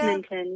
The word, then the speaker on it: Edmonton: Edmonton, yeah.